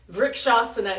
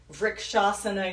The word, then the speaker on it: Vrikshasana: Vrikshasana is spelled V-R-K, Vrik, A-S-A-N-A, Vrikshasana, tree pose.